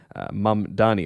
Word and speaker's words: Mamdani: The Democratic nominee uh for the New York mayoral race is a gentleman called Zaharan Mamani. Mam Dani. Of course, the Republicans find a way to uh always mispronounce his name.